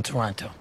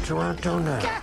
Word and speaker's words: Toronto: characters within the movie pronounce the city name with a hard second t who's a man from toronto sandra bullock in the